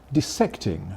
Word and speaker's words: dissecting: This is called dissecting or dissecting, but which? Well, I call it dissecting, but clearly I'm in a small minority there because most people, including particularly the younger people, went for dissect.